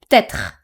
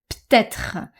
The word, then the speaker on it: peut-être: are going to hear peut-être, peut-être, which is also very common. Sometimes you might also not hear the R from être in peut-être.